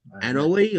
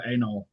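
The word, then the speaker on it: Anole: Annalie, I think her name is Annalie. No, it's uh, Anol.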